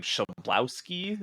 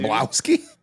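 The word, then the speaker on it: Chlebowski: Shablowski on YouTube. Shablowski? No, I'm serious. Like, that's how you say his name.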